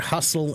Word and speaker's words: hustle: protective structure right so the word hustle and Castle have that same tle sound to them stle sound to them